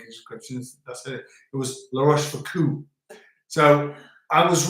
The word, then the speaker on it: La Rochefoucauld: Is O. So it's La Rochefoucauld, O. as in the south of old.